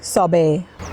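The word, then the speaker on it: sorbet: ซ้ำ อีก ครั้ง นึง ที่ เมือง ไทย ใช้ คำ ว่า เชอร์เบท มัน ไม่ ได้ ออก เสียง เชอร์เบท นะ คะ โซบ มัน คือ ซอเบ แมงโก โซบ แมงโก ซอเบ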